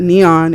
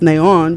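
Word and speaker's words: neón: that means is that you don't pronounce it neon it's neon because the accent mark is above the O and it just it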